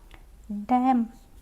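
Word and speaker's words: damn: यहाँ पे कंडेम, यहाँ पे हमारा एन साइलेंट है। डैम, यहाँ पे भी हमारा एन साइलेंट है, चुप हो जाओ।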